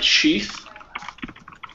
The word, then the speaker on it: sheath: So with sheath, we have sheath as a noun and it's unvoiced.